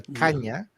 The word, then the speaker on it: caña: It's pronounced nya. So, caña.